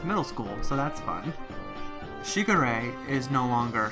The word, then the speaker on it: Shigure: are pronounced the same way so I've been pronouncing this wrong since middle school so that's fun Shigure a is no longer Segura though that's a very easy one to slip